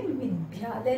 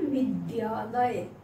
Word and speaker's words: विद्यालय: और इसका उच्चारण भी सही कीजिए, विद्यालय नहीं विद्यालय, विद्यालय इसको बोलिएगा।